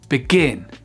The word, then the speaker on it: begin: verbes, vous faites pause, vous prenez le temps de vous entraîner à les accentuer sur la 2e syllabe et vous vérifiez juste après. Refuse, refuse. Prefer, prefer. Occur, occur. Submit, submit. Announce, announce. Begin, begin.